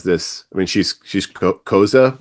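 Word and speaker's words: Xhosa: I mean she's she's coza which you you pronounce like you know mozza that's that's the way you say it.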